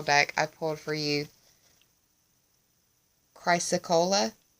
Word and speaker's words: chrysocolla: From the Sage Goddess Gemstone Oracle deck, I pulled for you Chrysocolla, I believe is how it's pronounced. Chryssocolla is how it's spelled.